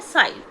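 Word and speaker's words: sighed: The rose beetle man looked sorrowful mean very sad एंड साइड, इसकी pronunciation है साइड.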